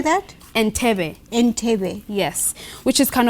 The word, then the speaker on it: Entebbe: Entebbe.